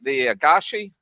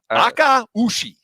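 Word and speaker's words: Akaushi: Then they have some, how do you say it, Rob? The Agashi? Aka-ushi. Aka-ushi.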